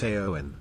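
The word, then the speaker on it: Éowyn: It's pronounced Eowyn.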